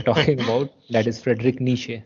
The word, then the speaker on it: Nietzsche: that is Frederick nishe so it is Nija ni I don't know you yeah it's quite hard to pronounce with all those letters in it it's a KN CH uh like you were talking about your knee and then you were saying the first part of chair so n yeah his full